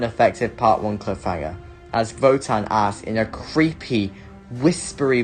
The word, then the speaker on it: WOTAN: something else the gripping story and threatening villain wotan or as it's pronounced votan is the villain and it is way ahead